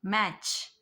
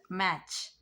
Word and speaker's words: match: Match, catch, watch, witch, scratch, stitch. So we are not pronouncing T here. Stitch. Scratch, scratch. Which. Watch. Catch. Match.